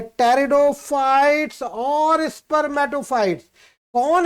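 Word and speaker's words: pteridophytes: इनमें P silent होता है, राइट। आप लोग इसको टेरिडोफाइट्स बोलेंगे, ना कि पेटेरिडोफाइट्स।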